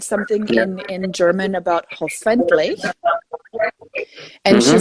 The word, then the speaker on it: hoffentlich: So I was putting the accent on the wrong part of the word.